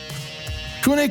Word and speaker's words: Cune: Whoever did the labeling thought that the V should have been a U. And so their wines, even though the company is CV ne, the wines have been CU NE Kune, which you can actually pronounce that ever since.